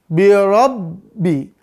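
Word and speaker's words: بِرَبِّي: Mal qiatu itu pelafalannya terus yang ba birabbi birabbi maka bnya ini ya harus dipastikan keluar dari kedua bibir birabbi setelah keluar dari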